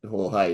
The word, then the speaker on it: Jorge: I just call him George because Jorge is like two syllables instead of one.